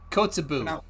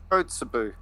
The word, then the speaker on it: Kotzebue: Pronounce it for me, please. Kotzebue. Kotzebue.